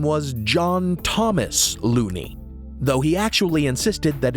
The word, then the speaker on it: Looney: L O O N E Y Looney. But since the man insisted that it rhymes with Bologoney, then we'll say it rhymes with baloney.